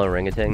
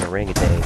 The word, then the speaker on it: orangutan: I'm clearly trying to prove a point that there's no fucking K in orangutan, so... Then why the fuck did you pronounce it with a K?